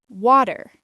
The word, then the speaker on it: water: In American English, the T often sounds like a soft D. water.